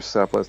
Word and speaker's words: Cephalus: There's a prior argument about what is justice, and Socrates wants to initially Cephalus says, Cephalus or Cephalus, depending on which pronunciation you want to use, argues that justice is telling the truth and giving back what one owes.